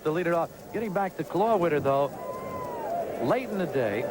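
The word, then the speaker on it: Klawitter: and on the mound the rookie left-hander Tom claw Witter it is spelled k k l AI W TT KL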